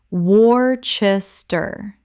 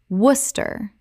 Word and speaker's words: Worcester: Common mispronunciation, Wor-ches-ter. Correct pronunciation, Woos-ter. Only two syllables, one of English's most famous spelling traps.